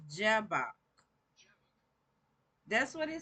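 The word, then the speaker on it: Jabbok: So it's pronounced Jabok.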